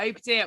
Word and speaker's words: Obadiah: Is that how you pronounce it? Yeah, Obadiah, which am I allowed to interject quickly with a great fact about that?